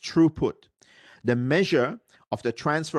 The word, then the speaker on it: throughput: location uh true put some people call it troughput but actually should be pronounced true put the measure of the transfer of bits across